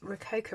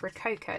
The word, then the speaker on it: Rococo: And I keep having to try and school myself, like, no, it's not that. It's Rococo, not Ratio.